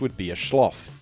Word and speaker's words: Neuschwanstein: house, would be a schloss, such as Schloss Neuschwanstein (pronounced ‘noi-svhaan-styn’).